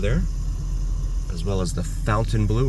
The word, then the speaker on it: Fontainebleau: And you can see Resorts World over there, as well as the Fontainebleau, or Fontainebleau, as I've also heard it pronounced.